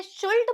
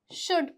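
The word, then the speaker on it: should: जैसे कि एस एच ओ यू एल डी। इसे शुल्ट पढ़ते हैं क्या? नहीं। इसे क्या पढ़ते हैं? शुड पढ़ते हैं।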